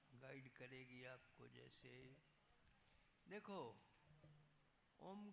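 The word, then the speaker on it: ओम्: का उच्चारण करते हैं ओम शब्द तीन अक्षरों से बना अ भू म तो हम इसका उच्चारण जब ठीक से करते हैं तो अ ओ म पे होठ बंद हो जाती है अ उ म उसको मिलाकर के संधि हो जाती है तो अ उ का ओ बन जाता है और साथ में म मिल गया तो ओम उसका उच्चारण कैसे भी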